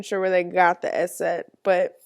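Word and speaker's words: Eszett: I'm not even sure where they got the S set, but the S set makes the S sound. That's why it's called S set and not big silky B like I would have called it.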